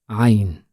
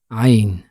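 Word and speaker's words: عين: right of the picture we need to narrow the space from which air comes out of our throat in order to pronounce the letter Ain so it is ah ah while as is on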